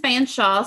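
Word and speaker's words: Featherstonhaugh: So actually, and you mentioned Fanshawe, so tell them how his name is spelled.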